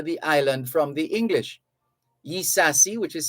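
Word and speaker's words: Ysassi: years to recapture the island from the english yi sasi which is spelled y y-s-a-s-s-i yi sasi escaped to cuba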